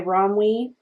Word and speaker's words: ROMWE: I got this off Sheen uh it's by romwe that's how you say it uh they have